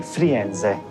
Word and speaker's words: Firenze: Once you go to Florence, you say Firenze.